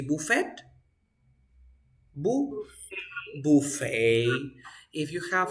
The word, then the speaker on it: buffet: you say Phuket bouquet Buffet is another French word so you say Buffet boo Buffet if you